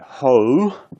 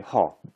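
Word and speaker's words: ὁ: But these Greek vowels, they're pure vowels. So don't say ho, ho, but say ha, ha. This word is ha.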